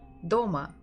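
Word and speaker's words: дома: fist DOMA DOMA DOMA so I would always stress a little bit faster and stronger my fist the stressed syllable DOMA so the first one is very strong kind of hard Doma and the second is secondary not that strong so Doma here because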